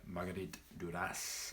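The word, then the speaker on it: Marguerite Duras: either novel with excerpt kind of thing by Marguerite du das I believe is how you pronounce that name really beautiful film kind of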